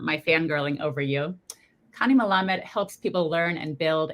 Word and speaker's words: Malamed: Malamed is how you pronounce the last name.